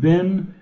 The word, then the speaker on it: been: were and in the past perfect I had been you had been he had been we had